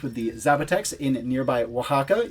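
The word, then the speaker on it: Oaxaca: the zapex in nearby Waka yes I know I called it wasaka the Aztecs would have called it hakak so my pronunciation wasn't terribly off the map on screen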